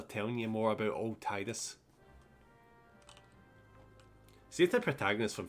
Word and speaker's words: Tidus: Final Fantasy X is Tidus. Because I guess that's because that's the way they pronounce I's in Japan. You know, E.